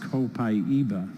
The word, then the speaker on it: copaiba: that you said that copaiba is supposed to be pronounced copaiba well it depends on what part of the world you're in who do we have here from Brazil today copaiba i'm speaking directly to